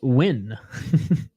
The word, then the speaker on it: Nguyen: Nguyen is pronounced win.